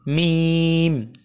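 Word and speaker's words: ميم: প্রথমে মিম অক্ষরটি শিখবো মিম মিম মিম উচ্চারণ করতে গেলে দুই ঠোঁট একটু শক্ত করে উচ্চারণ করতে হয় আমরা একটু পরে দেখছি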